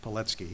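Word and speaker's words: Pilecki: c k i looks like Peli but it's pronounced petki it was polish he was born in 1901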